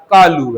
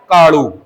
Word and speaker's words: कालू: इसी प्रकार किसी के भैया का, किसी के परिवार के सदस्य का नाम क्या है? कालू है, तो इसे कालू उच्चारण न बोलकर क्या बोला जा रहा है? काड़ू।